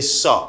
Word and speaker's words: saw: But you can notice this letter doesn't pronounce. You don't pronounce this letter. You say saw.